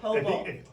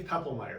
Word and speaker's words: Poeppelmeier: The O is silent. Dave Why don't you say your full name so everyone can have it? So Yes. Dave Poeppelmeier.